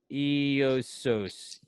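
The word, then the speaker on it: Ἰησοῦς: of letters that are not on our keyboard, pronounced as Iesus, which is a transliteration of the Hebrew name, also in Hebrew, which is not on our keyboard, pronounced Yeshua.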